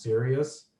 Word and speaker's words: Sirius: only one that might be of note to some people is if you work with the fixed star Sirius, sometimes pronounced Sirius, Mars is going to be conjunct it May 15th through the 19th.